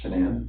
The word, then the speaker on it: Shanann: And I don't want to pronounce her name wrong, Shanann. Shanann?